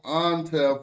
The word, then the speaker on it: Intef: That's different Intef. Okay. Yeah. So they call them Antef when they generals for some reason, and but it's spelled the same way.